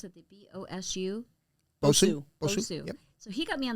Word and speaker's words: BOSU: brother got me on the how do you pronounce it the b-o-s-u so he got me on the bosu ball